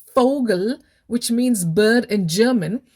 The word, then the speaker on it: Vogel: fou so will saying fogel which means bird in german we don't say vogel with a v but instead we pronounce it as fogle with an f so having an indian